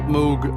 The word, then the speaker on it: Moog: bit of Moog synthesizer spell Moog and pronounce Moog this is a subsequent